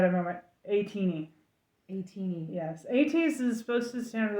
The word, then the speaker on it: ATEEZ: And if you're in Korea, you pronounce it Ateez. Oh, in here I would say Ateez, so now I say Ateez.